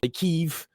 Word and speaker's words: Kyiv: Or Well, now and like it's not Kiev anymore. It's like Kyiv.